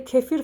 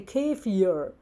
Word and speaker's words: kefir: They cannot say kefir, for example. They say kefir.